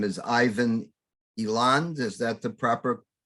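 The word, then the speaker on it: Eland: his name is Ivan Elon is that the proper pronunciation or e-lands Elan yeah okay I tried to give you a little French feel there there you go and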